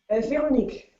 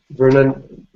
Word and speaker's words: Veronique: Veronique. Vernon. What is it? Is Veronique? Veronique, it's like Veronica without the A.